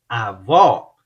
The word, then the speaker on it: avó: Avô, avô, avó, a gente abre a boca.